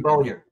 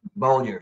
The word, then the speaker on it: Bellew: Bollier. Say it one more time. Bollier. I never say it right. It's spelled Bellew, but it's Yeah, Bollier. it's spelled like Cat Ballou.